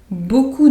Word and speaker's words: beaucoup: Beaucoup de, and the P is not pronounced here either.